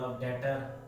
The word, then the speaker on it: debtor: एक वर्ड और ले लो, डेटर, DEBTOR, डेटर। तो यहां क्या हो गया? जो बी है वो टी से पहले आ रहा है, इसलिए बी यहां क्या है? साइलेंट है।